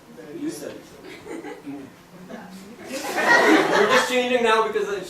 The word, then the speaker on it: Yusuf: How would an Arab pronounce Yusuf's name? Yusuf.